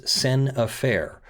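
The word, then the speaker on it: scènes à faire: in my legal opinion is sen affair which is spelled scenes ah fair which is a french term meaning scenes that are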